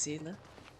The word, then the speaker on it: Seele: to hmm are they avoiding me so it's pronounced Sila he looks like she's a she's any more